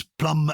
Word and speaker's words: plumber: p-l-u-m none at all so it's plum as from Plum Berry silent B and you'll remember that it was probably Renaissance scribes translating from Latin into English who saw the word plumber and thought well we have to show off its Latin Heritage so they inserted a b and we've never pronounced it of course but they